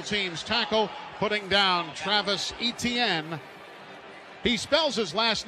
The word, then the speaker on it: Etienne: So Ronnie Harrison on the special teams tackle, putting down Travis Etienne. He spells his last name E-T-I-E-N-N-E, but it's pronounced like the 3 letters, E-T-N.